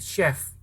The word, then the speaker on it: chef: ya oke eh ya itu bacanya bukan chef tapi chef itu c-nya dibaca S ya chef terus vegetable